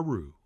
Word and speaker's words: roux: And we'll stir all this together to form, yes, you got it, a roux. R-O-U-X. Oh yeah, the X is silent.